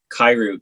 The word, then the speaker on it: Kiru: the garden um literally you can look like kairu k-i-r-u apple music doesn't quite respect my name